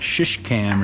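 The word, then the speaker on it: Şişecam: this glass and it's it's called like shish cam or something it's spelled s-i-s-e k-a-m mike or c-a-m s-i-s-e-c-a-m and uh it's actually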